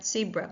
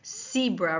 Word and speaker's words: zebra: Now, even though I said it's said, not see, Canadians tend to pronounce this animal with the stripes zebra rather than zebra, but you will hear zebra in the UK.